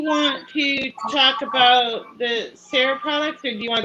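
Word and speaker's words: Sera: germany called sarah s-e-r-a i think they pronounce it sarah actually s-e-r-a that's how i think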